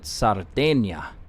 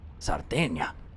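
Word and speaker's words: Sardegna: real quick it so Americans pronounce it and spell it Sardinia but these guys pronounce it sarda sarda this is where cat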